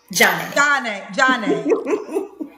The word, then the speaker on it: Janae: And it's Janae. How you say it? Johnny. It's Johnny, right? Johnny, yeah. Yeah, like Sade, Johnny.